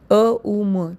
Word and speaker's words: ओम: ओम श्री कुलदेवी नमः ओम उच्चारण नहीं है ओम उच्चारण है अ उ म तीन प्रणव है ओम में सिर्फ ओ और म है आप बोल के